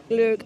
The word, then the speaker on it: glögg: Glögg o'clock. And I asked the lady who is serving it how to pronounce it, and it's glögg. I think that's right.